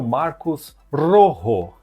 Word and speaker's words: Marcos Rojo: E o terceiro homem da lista do amigo aqui é o Marcos Rojo. É assim que se pronuncia, tá?